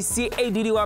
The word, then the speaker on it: Caddy: Your boy, C-A-D-D-Y, pronounced Caddy.